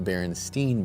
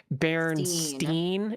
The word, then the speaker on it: Berenstain: Like many others on the internet, I grew up with a popular children's book series that I thought was the Berenstain Bears.